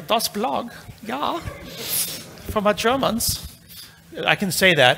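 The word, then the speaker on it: dasBlog: it's called dos blog which is german for the blog it's true you have to say it like a dos blog yeah from a germans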